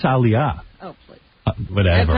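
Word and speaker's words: Aaliyah: How you say it? Aliyah. Aliyah. I think it's Aliyah.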